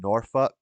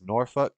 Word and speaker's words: Norfolk: It's pronounced Norfolk. True story. If you ever go to Norfolk or Sofolk, Virginia, the people there will let you know real quick. It's Norfolk and Suffuk.